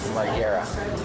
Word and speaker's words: Margera: How do you say it? Margera. Bam Margera. Margera?